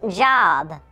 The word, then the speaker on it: Job: It's pronounced Job. I'm pretty sure it's Job.